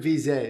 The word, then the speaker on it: Veazey: Brent Veazey is how you say your last name. French. It's a curse.